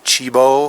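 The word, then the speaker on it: Tchibo: it's roasted in Germany it's called Cibo fine mild and the first word is spelled T CH i Bo right now those are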